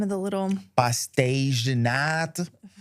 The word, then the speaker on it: Pastéis de nata: Pastéis de nata. I didn't say it like a Portuguese. I said it like a Brazilian. Yeah. Pastéis.